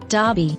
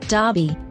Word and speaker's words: Derby: police station Corner Sergeant note the pronunciation Sergeant you have the same vowel sound in Clark Clark Derby Derby Berkshire Berkshire pretend and pretense role noun